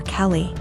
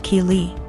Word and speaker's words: Keeley: more and I realized she was calling my daughter Kelly my daughter's name is Keeley pronounced Keeley so after school was